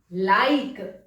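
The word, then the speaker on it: laïque: Perfect, यहां H pronounce नहीं होगा, आईर, आईर। नेक्स्ट, सेक्युलर, इसको हम बोलेंगे लाइक, ला ई क्यू यू ई होता है क, लाइक।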